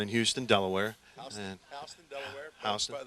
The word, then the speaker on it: Houston: Houston. That's how the locals pronounce it.